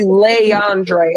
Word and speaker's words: Leondre: DMG, his name is actually Leondre.